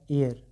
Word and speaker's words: heir: अब देखिए यहाँ पे ये क्या है, HEIR, इससे आप क्या पढ़ेंगे, ये होता है एयर, एयर मतलब होता है उत्तराधिकारी। तो यहाँ पे भले एच है लेकिन उच्चारण ए से स्टार्ट हो रहा है, तो आप क्या लिखेंगे,